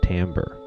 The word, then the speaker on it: timbre: It's spelled timbre, but it's pronounced timbre.